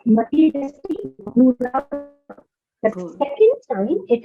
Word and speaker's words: मतिरस्ति गुरौ: मतिरस्ति गुरो मम पाहि गुरो So the first, मतिरस्ति गुरो मम पाहि गुरो so the first time is matirasti gurau. So you need to pronounce it as matirasti gurau.